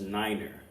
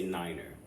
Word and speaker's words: Niner: pronounce numbers such as Niner right so instead of saying the number nine you say Niner um instead of seeing